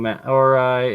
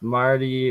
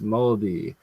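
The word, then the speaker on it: Māori: He says that what I was saying, Maori is pronounced Marty or sometimes Moldy nowadays.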